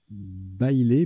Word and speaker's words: bailé: Bailé, B-A-I-L-E, qui est un nom masculin qui se prononce bailé.